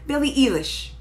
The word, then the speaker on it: Billie Eilish: Billie Eilish.